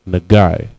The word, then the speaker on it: nagai: For the word touch is nagai. Nagai. Na, ga, and I. The na and ga connect. It's nagai. All right, the next word we have up is tree.